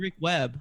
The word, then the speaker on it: Weber: It's DJ Rick Webb.